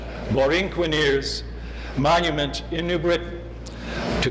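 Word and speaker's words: Borinqueneers: milestones for example the recently approved wrkn ears Loreen Quinn ears I have to pronounce it correctly Lauren Qin ears monuments in New Britain to commemorate the brave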